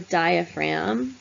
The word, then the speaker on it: diaphragm: and lungs called the diaphragm we don't pronounce the G that separates basically what's